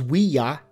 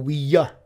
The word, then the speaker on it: Ouija: The pronunciation is Ouija or Ouija.